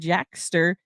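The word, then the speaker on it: Jaskier: I know that in the Netflix series they did Jackster, which I guess is the proper Polish way to say his name.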